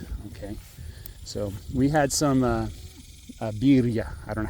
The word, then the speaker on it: birria: Okay, so we had some birria. I don't know how to pronounce that. Birria, it's 2 R's in Spanish.